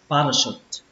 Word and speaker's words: parachute: Âm thứ hai chúng ta đọc là r, r. Mặc dù ở đây nó ghi là âm a nhưng mà chúng ta hay đọc là âm ơ, r, r. Và âm cuối cùng nó bắt đầu bằng chữ ch nhưng cách đọc của chúng ta là âm sờ, kết thúc bằng âm t bạn ơi, shoot, shoot. Như vậy là cái từ này chúng ta sẽ đọc là parachute, parachute.